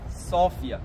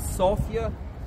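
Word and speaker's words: София: 1925 locals pronounce the name of our city sopia so the city name we pronounce sopia the lady Sophia because the city of sopia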